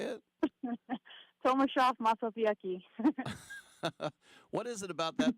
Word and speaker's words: Tomaszów Mazowiecki: Tomaszów Mazowiecki.